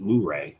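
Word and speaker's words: Luray: on the other side of the ridge from L Laray caverns and from what I understand they actually pronounce it lray there so that's we heard it pronounced that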